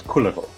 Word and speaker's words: Kullervo: Kullervo, I believe the actual Finnish pronunciation is Kullervo.